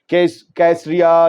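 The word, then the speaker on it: Caesarea: इस बारे में अल-मायदीन लेबनान की वेबसाइट की हेडलाइन है, drone from Lebanon makes impact on नेतन्याहूज residence इन कैसरिया या कासरिया, अलग अलग प्रोनाउंसिएशन है।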